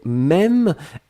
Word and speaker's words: même: Et puis la dernière chose, c'était même, M-E, accent circonflexe, M-E. Très bien. Ici, Yossi, hein, pour votre information, l'accent circonflexe doit rester ici puisqu'on le prononce.